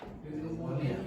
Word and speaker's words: pneumonia: How do you pronounce that word? Pneumatics. Pneumonia.